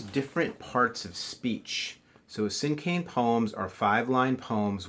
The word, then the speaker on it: cinquain: you again today we're going to be writing sin cane poetry now I've heard it pronounced sin can and sin cane but it seems like the more common pronunciation for this word is sin cane okay so almost like the word Keane C